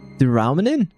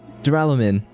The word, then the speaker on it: Duralumin: Duralamin? No. Duralamin. It sounds like I'm saying like how we say aluminium and the Americans say aluminum.